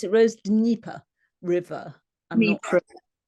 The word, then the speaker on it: Dnieper: Dnieper. The Anglicized version is the Dnieper, but I don't know, I've always called it the Dnieper or river.